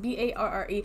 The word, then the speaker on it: barre: I think that's how it's pronounced, B-A-R-R-E.